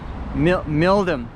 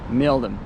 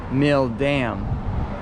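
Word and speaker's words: Milldam: I'm pretty sure it's pronounced Mildam because you have Needham, Framingham, and yeah, following that fashion, it should be Mildam, not Mildam.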